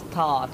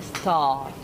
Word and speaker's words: start: বিষয় আপনি লক্ষ্য রাখবেন, আর এর পূর্বে যদি বয়েল এবং পরে যদি কনসোনেন্ট থাকে তাহলে কি আটা সবসময় কি সাইলেন্ট. ওকে, সো এক্ষেত্রে আমরা কি বলবো, স্টার্ট. ওকে, স্টার্ট.